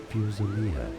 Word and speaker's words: fusilier: Stay tuned to the channel to learn more in British English. It's said as Fusilier. Fusilier. Fusilier. Bawagi, you and the Fusiliers are to accompany the Liberator.